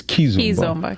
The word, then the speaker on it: Kizomba: first time I saw it, and actually I pronounced it, I was calling it Kizomba, but you saying it's Kizomba.